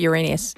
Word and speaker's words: Uranus: I was going to pronounce it the Uranus. other way. No, in America we call it Uranus.